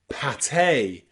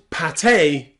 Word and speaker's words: pâté: You'll also find the letter E pronounced A in really rare, exceptional words like pâté and café.